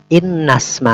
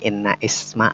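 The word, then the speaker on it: إن اسم: Innasma hadzal rajuli Khalidun. Innasma hadzal rajuli Khalidun. Innasma. Bukan inna isma, bukan, tapi innasma.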